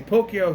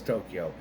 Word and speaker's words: Tokyo: They say Pokyo, she says Tokyo.